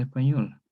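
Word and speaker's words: Espanyol: Y se escribe una Y y una N, pero todo pronuncia en español igual, pero se escribe así, una Y y una N, español, español.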